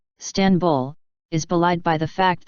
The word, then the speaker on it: İstanbul: and dotless I also while in English the stress is on the first syllable is in Turkish it is on the second syllable 10 stanbul was officially adopted as